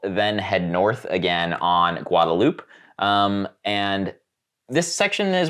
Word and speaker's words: Guadalupe: here I was like Guadalupe and every was like no no no no no it's guadaloop and I was like what yeah spelled Guadalupe but pronounced guadaloop for some reason uh anyway the uh